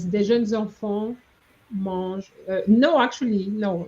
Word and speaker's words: mangent: De jeunes enfants mangent. Yeah. Okay, Kamoy, you need to remember that ENT is silent.